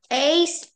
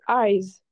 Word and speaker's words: eyes: Um, the ace is missing. Yes, perfect. Par contre, ça se prononce eyes.